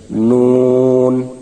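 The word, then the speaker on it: ن: 9 নম্বর মাখরাজ, জিহ্বার আগা তার বরাবর উপরের তালুর সঙ্গে লাগাইয়া নুন। উচ্চারণ সময় ঠোঁট গোল হবে এবং জিহ্বার আগাটা উপরের তালুর সঙ্গে লাগবে, নুন।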